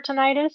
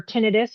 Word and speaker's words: tinnitus: The treatment for tinnitus or tinnitus, you can pronounce it either way, is the same treatment that is treated for hyperacusis, which is um uh what is it?